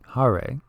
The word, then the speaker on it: Hare: is the mantra and it's very simple Hare Hare is how you say it Krishna is like